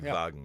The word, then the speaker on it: Volkswagen: and the V because we in Germany we don't have a w like wine so we say Vine yeah just like a V the V even though we spell it the W but I mean it's a it's a it's a Volkswagen exactly Volkswagen exactly vagen yeah so I mean